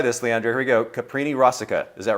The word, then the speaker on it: Caprini-Rosica: Caprini-Rosica.